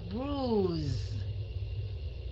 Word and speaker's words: bruise: Rồi cái này, cái kế mình sẽ đọc là bruise. Cái âm E ở phía sau không đọc, mình đọc âm S thành chữ Z. Đọc thành âm Z.